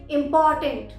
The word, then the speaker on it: important: जैसे इम्पॉर्टेंट, spelling क्या होती है? IMPORTANT, पर यहाँ पर हम आर को प्रोनाउंस नहीं करते। आर साइलेंट लेटर है।